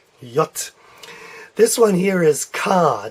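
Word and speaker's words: Jot: here is your yacht I'm not sure how to spell that so I'll put Y OTE to get the idea in yote yacht yacht this one here is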